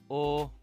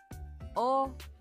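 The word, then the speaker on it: お: 우리나라의 5와 발음이 거의 비슷합니다. 하지만 입술을 너무 앞으로 모아 내밀어 발음하는 것은 부자연스러우니 입술에 힘을 빼고 자연스럽게 발음해 주세요. 잘 듣고 따라읽으며 바르게 써 보세요. 오. 오.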